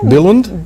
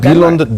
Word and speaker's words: Billund: Help me with pronunciation again. Billund?